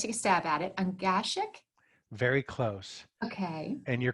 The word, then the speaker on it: Ungashick: Ungashick. Very close. Okay. And you're courageous because most people won't even touch it. It's pronounced Ungashick.